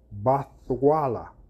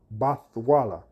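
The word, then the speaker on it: בתולה: word there is bathala the way you pronounce this is bathala bathala and what does the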